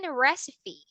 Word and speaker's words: recipe: Recipe. Recipe. Can you say it? Recipe. Yes, recipe. Yeah. All right. Because some student pronounce that as recipe.